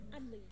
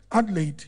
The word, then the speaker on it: Adelaide: But how do you mention, how do you pronounce your name? Adelaide. Adelaide.